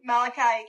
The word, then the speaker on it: Malachi: Um Malachi, is that how you correctly pronounce his name? Malachi.